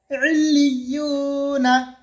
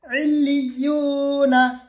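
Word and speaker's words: عِلِّيُّونَ: এটা হলো ইলিয়ুনা, ইলিয়ুনা বানান করলে হবে আইন লাম জের ইল লাম ইয়া জের লি ইলি ইয়া ওয়াও পেশ ইউ ইলিয়ু নুন জবর না ইলিয়ুনা ইলিয়ুনা।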